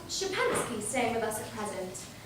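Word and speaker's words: Szczepansky: No, Shapansky. SZCZSCEPANSKY. And you call it Shapansky.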